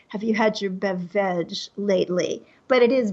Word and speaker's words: BevVeg: I'm going to say, have you had your BevVeg lately? But it is BevVeg.